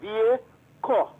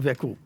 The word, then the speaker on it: Vieco: It is Vieco. All right. Thank you very much. Thank you. Right, you're most welcome. Vieco. Yeah, we got to make sure we have it properly. So it's not Veco.